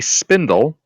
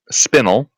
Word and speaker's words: spinel: A spindle. Or, sorry, a spinel. Sorry, spinel. Is it red?